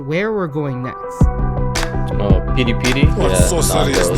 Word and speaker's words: peri-peri: Peri-peri. That's another pet peeve of mine is when people pronounce it peri-peri. I understand phonetically if you're reading it like that, but we would say peri-peri.